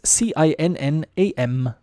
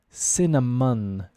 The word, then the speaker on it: cinnamon: And it's a spice that can be challenging to pronounce because of the C and the N. What do you think? Any? Can you try and pronounce it out loud? Cinnamon. Cinnamon. It's like an M-U-N.